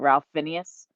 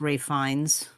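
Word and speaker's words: Ralph Fiennes: additional you have um I'm gonna say like in in American but I don't think that's actually how you pronounce his name but Ralph Phineas um I think he pronounces it differently um I think it's pronounced Ray fines thank you yes um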